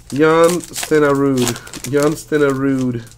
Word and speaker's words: Jan Stenerud: Hey, dude, that's not how you say his name. Jan Stenerud. Ah, gotcha.